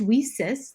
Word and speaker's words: WiCyS: acronym leases w-i-c-y-s pronounced we cis like we sisters because that's exactly what we are we are a cyber